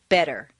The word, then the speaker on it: better: the T and listen the Double T in better is pronounced d better any other pronunciation will